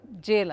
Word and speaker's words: gaol: is a name again gaol is old form of spelling of all English okay either the pronunciation here at the jail Anthony at the Kelley